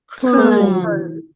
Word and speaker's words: Köln: Yeah, again, use E and then go relax lips. E. E. Again. Okay, so the lips come together to a point. Yeah, from E to E to E.